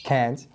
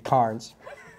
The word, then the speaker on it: Cairns: I know this one it's Cairns but I've been saying cards yeah the entire week and that got corrected by a guy and he walked me through it how to say it right number two Eula doula